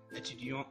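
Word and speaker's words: étudiant: بروفيسور مدرس ميكانيسيان يعني ميكانيكي اكريفان يعني كاتب اتيديون اتيديونت اتيديون يعني طالب اتيديونت يعني طالبة الحرف الت في اتيديون الطالب لا تلفظ لكن مع الطالبة تلفظ لأنه جاء حرف إلا بعد حرف الت ميوزيسيان موسيقي ميوزيسيان موسيقية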